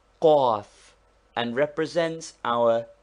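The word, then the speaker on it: قاف: This guttural consonant is pronounced with a vowel by contracting the throat. Say kaf first naturally, then with a short a sound and contracted throat like the cawing of a crow.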